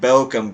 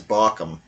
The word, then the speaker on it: Barkham: I keep on wanting to pronounce it Bochum, but if it was Bochum, there would be an umlaut over the O, but it's not, it's Barkham.